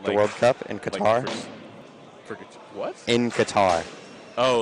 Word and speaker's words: Qatar: American people, you know how they pronounce it? What? Cutter. Cutter? Mm-hmm. And Is the it supposed to be pronounced like that? No, it's technically supposed to be pronounced Qatar, but it's also not supposed to be pronounced like that because there's 2 letters in the actual name that just don't exist in the English lexicon.